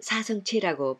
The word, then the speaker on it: 사성제: 제를 후대에 체라고 읽으면서 요즘은 사성체라고 번역하기도 합니다만 이제껏 읽은 관습대로 사성제로 부르는 게 편하겠습니다.